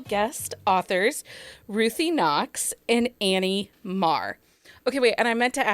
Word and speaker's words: Mare: Is it or? Mare. Okay, Mare. So you're wrong on both parts.